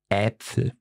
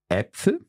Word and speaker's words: Äpfel: So to give you an example, it would be, for example, in the word Äpfel.